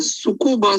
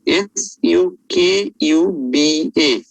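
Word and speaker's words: Tsukuba: name called as the sukkova scoring system the t is silent it is called as s u k u b a the sukuba scoring system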